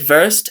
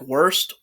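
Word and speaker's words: Wurst: want to say like worst because you know if they're german i have to say first because that's how the pronunciation goes they say their w's like v's first zane's face has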